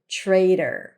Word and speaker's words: traitor: as in the word trader. In American English, the flap T actually sounds a little bit like a D, a little bit like an R.